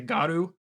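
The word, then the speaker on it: Garou: as werewolves to themselves they are known as the garu or G or however you wish to pronounce it I say garu the first one the first one is closest to right yeah I was say that's normally how I pronounce it but I've also heard people say guu and I'm like ah that doesn't sound as cool yeah but you also you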